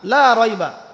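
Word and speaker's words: لا ريب: সন্দেহ লা মানে না লা রাইবা কোন সন্দেহ নাই ফিহি এর মধ্যে মানে এই কিতাবের এখানে লা এর উপরে কি মদ আছে? লা এর উপরে কি মদ আছে না? লাকে টানতে হবে না?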